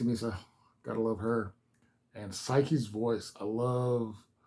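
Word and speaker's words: Saiki: gotta love her and psyche's voice I love psyche's voice um sorry I'm I just realized I'm mispronouncing around I'm doing her name too fast psyche not psyche psyche um her voice I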